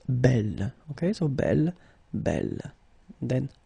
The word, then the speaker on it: belle: So it's actually quite interesting because these two forms, so the second masculine form and the feminine form, are phonetically the same. It's belle.